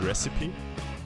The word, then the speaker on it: recipe: duty and vote now reip isn't pronounced like that how is it pronounced recite recipe recipe I think it's recipe that sounds familiar is it recipe yes okay okay nice